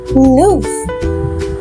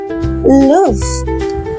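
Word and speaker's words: luve: makna love atau cinta and in Scot pronunciation We call this word loof ya loof because ini membuat nadanya itu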